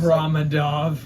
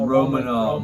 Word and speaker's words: Romanov: With Alexander Ramadov, that motherfucker looks Ramadov. Wait, that's how you say it, right? Oh, Romanov. Romanov, my bad.